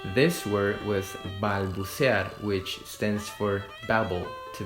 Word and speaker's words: balbucear: The correct way to pronounce this word was balbucear, which stands for babble, to babble. Balbucear.